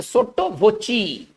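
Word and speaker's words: sotto voce: देखिए इसको कैसे पढ़ेंगे, सोट्टो वोची, इसका उच्चारण करेंगे सोट्टो वोची, ठीक है ना।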